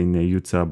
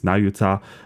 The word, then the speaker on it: Nayuta: I'm not sure how we're going to pronounce it going forward, because in American English you say Nayuta, but in Japanese it's Nayuta.